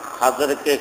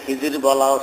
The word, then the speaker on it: খাজের: মালিক খাজা মানে সাহেব আর খাজেরকে খিজির বলাও সহি বরং বেশি সহি হলো খাজের বলা খাজের মানে সবুজ তাকে